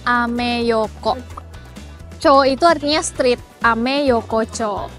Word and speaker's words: Ameyoko: Nah bacanya ameyoko.